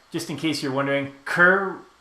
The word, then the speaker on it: Kerr: in case you're wondering Kerr rhymes with fur so Kerr is